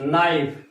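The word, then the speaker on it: knife: Letter in the word नाइफ। तो नाइफ हम पढ़ते हैं तो एन से शुरू होना चाहिए था, लेकिन पता चलता है कि नाइफ का पहला लेटर क्या है, के होता है।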